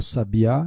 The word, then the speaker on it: sabiá: Então aqui a gente pode ver o sabiá e o sabia, né?